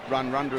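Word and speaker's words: Radradra: experts who tell me the A becomes a U and run-rundra is how you say it.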